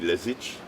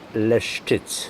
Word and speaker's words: Leszczyc: And this man, Andrzej Lesic is right. How do you pronounce it? Andrzej Leszczyc.